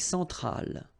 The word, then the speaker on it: centrale: L'Amérique centrale, same thing here. Centrale, remember, E-N, nasal, so it goes in your nose, en, centrale, all right?